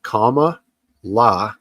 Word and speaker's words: Kamala: So they say the easiest way to remember how to pronounce her name is the punctuation symbol of comma and la after it. So if you can say comma, la, that's good enough.